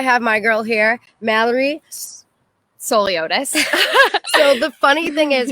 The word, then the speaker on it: Souliotis: So it's Souliotis. Right as it's spelled.